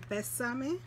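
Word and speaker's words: Bésame: means is Christy and in Spanish is pronounced best sunny you back here they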